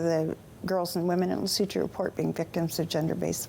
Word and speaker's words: Lesotho: Yeah, I mean, the way it's spelled, yes, it certainly doesn't look like. Lesotho.